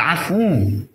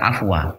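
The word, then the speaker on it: العفو: Ada sebuah bacaan, bacanya qulil afu, bukan afwa, tapi afu.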